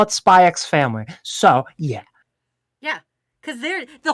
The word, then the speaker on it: Spy x Family: So it's Spy X Family. Same with Hunter x Hunter. It's there. You got to put the X in there.